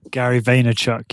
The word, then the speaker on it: Gary Vaynerchuk: is it Gary Vaynerchuk is that how you pronounce his name Gary Vaynerchuk yeah theater Chuck okay did he write a